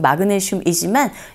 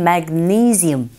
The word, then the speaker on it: magnesium: 그런데 우리식 발음은 마그네슘이지만 영어로 발음하실 때는 magnesium, 니이 이 부분에 강조 주시면 됩니다.